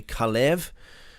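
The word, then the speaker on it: כָּלֵב: So, Caleb would be Khalev uh in the Hebrew which would mean dog.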